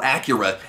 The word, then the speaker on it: Akira: it turns out that Akira or Acura as it's more accurately pronounced in the movie I watch this side